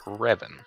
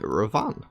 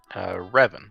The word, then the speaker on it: Revan: Pronounced Revan, apparently. So that's how I was saying it, Ravan. Revan. I guess the emphasis is on the first syllable.